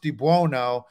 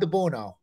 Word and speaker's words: DiBuono: my dad never said it right it's it's pronounced dubuono and my dad would introduce himself to people hey I'm Bob dabuno I'm like that you don't even know your